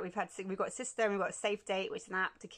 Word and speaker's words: SISTR: There's the SISTR. Is that how I pronounce it? Yeah, SISTR.